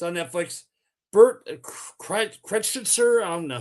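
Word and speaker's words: Kreischer: Bert Cretcher. I don't know how you Chryser. Yeah. Okay. Say it. Thank you. I can't pronounce it.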